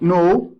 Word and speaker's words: know: and the the web no okay K is silent here we don't say can